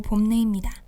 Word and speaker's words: 봄내: 봄춘의 내천, 봄이 흐르는 시내라는 뜻의 순 우리말 이름, 바로 봄내입니다. 제가 생각하는 봄내의 매력은 이 단어를 발음할 때의 입모양인데요. 봄하고 말하려면 입술을 꼭 모았다가 팡 하고 떼어야 합니다. 그 모습이 마치 겨우내 웅크리고 있던 꽃망울이 찬란하게 터지는 듯한 느낌을 주지 않나요?